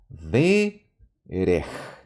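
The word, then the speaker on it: דֶּרֶךְ: Verej. ¿Ok? Yo pronuncio con la entonación al inicio porque esta es una sílaba abierta, termina con vocal, pero acá está el acento.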